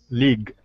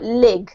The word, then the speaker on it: league: League. League. Yes. Very good. You need to elongate your E sound a little bit, otherwise it sounds a bit like lig, okay?